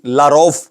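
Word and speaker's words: Lavrov: کے لیے عرض ہے جس طرح ہم سرگئی لاروف پڑھتے ہیں، ان کے سپیلنگ میں آخر میں وی آتا ہے لیکن فے کی آواز نکلتی ہے، اسی طرح اردو کے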